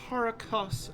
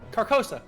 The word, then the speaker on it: Carcosa: actually of this land called Caracas uh caracosa I believe is the pronunciation carcosa carcosa thank you you're welcome I love